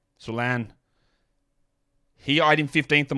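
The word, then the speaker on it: Salaün: name it is not Saloon it's not Salon it's Salan it's a French name Solan he IED in 15th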